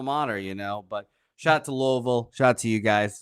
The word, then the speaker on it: Louisville: By the way, it's not Louisville, it's Louisville.